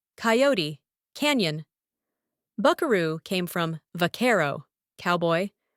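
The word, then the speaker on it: vaquero: Buckaroo came from varero, cowboy, originally pronounced with accent on the second syllable.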